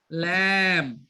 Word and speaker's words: lamb: Sheep, செம்மறியாடு, lamb. பி உச்சரிக்க கூடாது. lamb, செம்மறியாட்டு குட்டி.